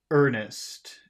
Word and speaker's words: earnest: How should you pronounce earnest? If the R will make the vowel sound longer, how should earnest sound? Earnest. Er, Earnest.